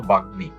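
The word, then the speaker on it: বাগ্মী: এখানে গ এর সাথে মটা ছিল বাগনি। বাগনি। এখানে গ এর সাথে মটা যুক্ত হয়েছে। এই মটা উচ্চারণ হয়েছে। চিন্ময়। এখানে ন এর সাথে মটা যুক্ত হয়েছে এবং এই মটা উচ্চারণ হয়েছে চিন্ময় বাল্মীকি এখানে ল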